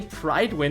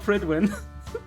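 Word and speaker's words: Prydwen: actually was, and I realized they don't say Pridewin in the entire game, not even once. The ship is called Pridwin.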